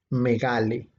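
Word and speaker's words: μεγάλη: Y un poco más abajo aparece la palabra, ahora ya no con acento en la E, sino con acento en la A, que sería megale.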